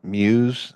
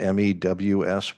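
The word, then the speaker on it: mews: your report refers to what are called Muse that sounds like a cat noise but it's spelled me WS what exactly is a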